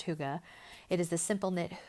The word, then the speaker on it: hygge: it is their hygge I said Higgy at the beginning just because phonetically that's what it looks like but it is pronounced hygge it is the simple